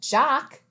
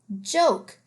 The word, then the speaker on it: joke: o say its name this isn't jock you don't tell a funny jock this is the word joke the silent e at the end makes the o say its name so let's go back